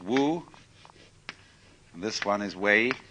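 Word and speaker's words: 無為: character this is pronounced this one is Wu and this one is wei wu wei wei means to act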